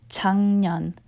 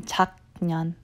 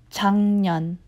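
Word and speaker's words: 작년: I pronounce this word you would think it's pronounced as Chuck Yan but because it has a gun ending on their jaw but it's actually pronounced his tongue with the ng sound because the girl and ends two constants that you have to pronounce next to each other and they don't like it so it's much easier to pronounce as chun-yin rather than tachyon okay so again it's ng ending chun-yin or hey this year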